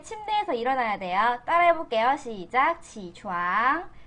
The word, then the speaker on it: 起床: 지촨. 지촨. 발음할 때 지. 이건 일어나면 안 돼.